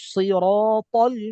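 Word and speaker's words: اهدنا الصراط: নাউসসি ইহদিনাস সি হ্যাঁ ইহদিনাস সদের যেটা তেমন ভাবে উচ্চারণ করতে হবে যাতে এটা সদ এটা বুঝা যায় সিদ্ধ দ্বারা হয়ে যায় আপনি যদি সি বলেন ইহদিনাস সি বললে কি সিন হয়ে গেল না সিন জের সি কিন্তু আমার উচ্চারণ করার সময় এমন ভাবে উচ্চারণ করতে হবে যাতে শুনে বুঝা যায় এটা সদ সিন না বুঝা গেছে ইহদিনাস ইহদিনাস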